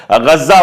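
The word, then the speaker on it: غزة: जैसे गजा हम लोग कहते हैं, लेकिन वहां पर गज्जा उसको कहा जाता है।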